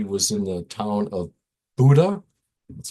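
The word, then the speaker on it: Bodø: Christina oscal she was in the town of Buddha that's how you pronounce it and it's spelled Bodo but Buddha way up the coast of Norway and one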